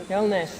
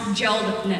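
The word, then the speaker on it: Hjeldness: How do you think you pronounce that? That's a Minnesotan name. H-J-E-L-D-N-E-S-S. Illness. Illness. Hillness. No, it's pronounced geldness.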